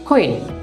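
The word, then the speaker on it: queen: লক্ষ্য করুন কুইন, আমরা কুইন বলবো না, কি বলবো কুইন খ দিয়ে কুইন কুইন।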